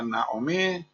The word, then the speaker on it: Naomi: ya digo eh eh según algunos de los sefarditas eh se pronuncia Naomi y no voy a